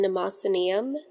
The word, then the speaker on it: Mnemosyneum: So many wonderful words starting with And notice how the first M in Mnemosyneum is silent, like a delicious secret.